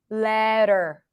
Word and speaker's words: letter: the word letter so here we have an l sound and the as in red Le then we have a flap T schwa r letter so you can also think of it as a lady letter you can also pronounce